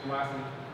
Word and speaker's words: Kumasi: Also, the P spelling and pronunciation of this place, Kumasi, is like this, so it ends with that. Because remember, this stands for an I sound, which is what we have here.